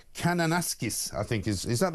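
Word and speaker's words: Kananaskis: well over in Canada in a place called Cananasis, I think. Is is that the right spelling? Ryan, very good uh right pronunciation.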